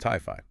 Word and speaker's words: Ti-Fi: That's pronounced Ti-Fi.